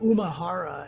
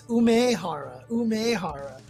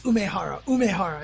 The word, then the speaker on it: Umehara: I used to always call Daigo Umehara, and like people would always tell me it's Umehara. So I'm like, all right, it's Umehara.